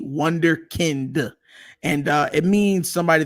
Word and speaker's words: Wunderkind: where it came from it's pronounced wonderkind with a d wonderkind and uh it means